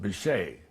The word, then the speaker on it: Bitche: Now from there we go on down to Bitche, France, B-I-T-C-H-E, which in French is pronounced Bichet, right?